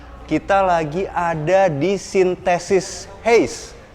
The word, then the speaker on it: Huis: lagi ada di sintesis Hei ini banyak yang suka keliru Itu temen jadi ini tuh tulisannya kan khusyuk sebenarnya bacanya itu Hei Nah kita lagi mau